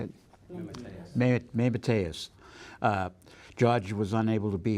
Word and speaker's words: Mateus: Mateus.